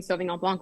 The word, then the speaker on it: Sauvignon Blanc: Like there was a whole TikTok issue where I was pronouncing Sauvignon Blanc with the C because that's how we pronounce it here in the US.